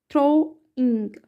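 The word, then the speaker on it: throwing: आई एन जी इंग डब्लू का यहां पर व साउंड नहीं आएगा थ्रोइंग darkness darkness in फार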